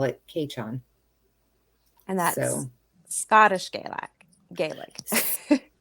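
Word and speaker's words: Cèitean: gaelic um they their word for may is keichon which it's spelled c-e-i-t-e-a-n but it's pronounced k-chon don't ask me how long it took me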